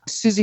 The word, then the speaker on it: Susi: Susie Miller is British. It's spelled SUSI, is a wonderful resource on accessibility.